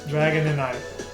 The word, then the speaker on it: Dragonite: Dragon and night.